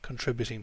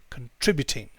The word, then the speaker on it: contributing: And over here, contributing. You'll notice we don't say contributing. Okay, it's not like that. It's kin. So we don't say con. All right, it's kin.